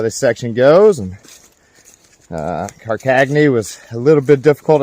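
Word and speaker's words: Karkaghne: Well, the Carcagny section is done, or so I've been told is how you pronounce it.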